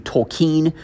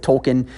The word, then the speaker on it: Tolkien: Some people pronounce his name Tolkien. That may be the more appropriate way to pronounce it. I'm going to go with Tolkien just for the simplicity of the matter for this episode anyway.